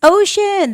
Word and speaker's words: ocean: The c is the sound of sh when you pronounce it.